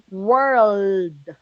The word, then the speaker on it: world: But mundo with the L, world. Word. L.